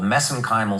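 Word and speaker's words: mesenchymal: So, I know I get criticized for that, but that's that's a little bit of an Irish accent on my part.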